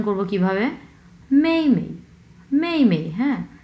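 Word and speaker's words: 妹妹: হ্যাঁ প্রথম অংশটা হচ্ছে 4 নাম্বার টোন, সো মেই মেই, এবং পরের অংশ হচ্ছে কোনো টোন নেই, সো আমরা উচ্চারণ করব একবারে খুবই মানে ধরেই ছেড়ে দেবো।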